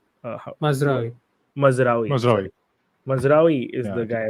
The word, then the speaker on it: Mazraoui: How do you pronounce the right back? Maruzi? What? Mazraoui.